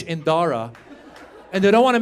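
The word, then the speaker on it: Dhara: But then she wanted to Indianize it, so she added a silent H after the D. So now it's spelled D-H-A-R-A.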